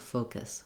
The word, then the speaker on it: focus: very long and then this kiss syllable is very short almost like it has no vowel sound at all i'm moving from the k to the s very quickly so i have a little schwa or i might even say it as a little sound focus focus you can think about the word kiss but i want this